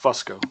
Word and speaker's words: Fusco: uh no but my it's technically pronounced Fusco but nobody ever says that well I'm going to